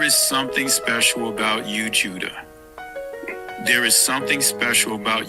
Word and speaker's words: Judah: There is something special about you, Judah. There is something special about you, Israel. Or Yashua all. When I say Judah, Yahawadah. That is the ancient pronunciation of the word.